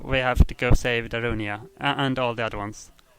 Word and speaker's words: Darunia: How do you pronounce his name? Durania? I don't know. Darunia, thank you. Darunia? Yeah, that's it.